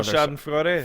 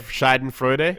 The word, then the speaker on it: Schadenfreude: Schadenfreude. Schadenfreude. Yeah, is that how we're gonna pronounce it? That's close enough. Okay, that. Schadenfreude. Whatever. Yeah, that. It's absolutely that.